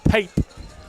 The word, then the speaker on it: Pape: is it Pape? Pape. Just as it's spelled.